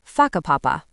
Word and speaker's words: Whakapapa: You'll hear locals casually talking about places like Wakapapa, pronounced Whakapapa.